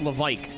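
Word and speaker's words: Lévesque: know what's funny in in Quebec LC is pronounced Lavik.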